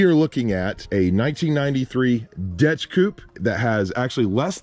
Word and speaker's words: DECH: seen one that is spelled d-e-c-h and you pronounce it dutch not dash we're learning all kinds